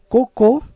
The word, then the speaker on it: cocô: paroxítona terminada em e cocô é uma oxítona terminada em o mas coco não é